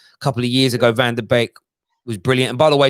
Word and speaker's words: van de Beek: who said it is van der beek a lot of people see it keep saying it's pronounced bake like wake up you're talking about van